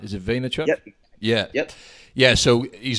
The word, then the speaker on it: Vaynerchuk: about Gary V Gary vaynerchuk that's how you pronounce his surname right is it vaynerchuk yeah yep yeah so he's also known by